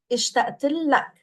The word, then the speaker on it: اشتقت لك: So we're pronouncing it as one word if you've noticed. It's اشتقت and لك, but we're pronouncing it all together. اشتقت لك.